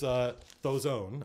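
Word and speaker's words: Dhoesone: Here's Thozone. I believe the DH is pronounced like a TH.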